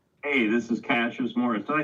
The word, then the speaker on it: Cassius Morris: Hey, this is Cashas Morris. Did I say that right? Am I saying your name right? Finally, somebody who can say it right. Yes, Cashas Morris indeed.